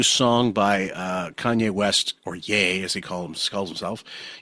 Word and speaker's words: Ye: by Kanye West, or Ye, as he calls himself, even though it looks like Ye, it's spelt that way. Like, oh, rest ye merry gentlemen.